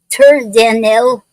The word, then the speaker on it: Terzanelle: And today's poetic form is called Terzanel. Is spelled Terzanelle.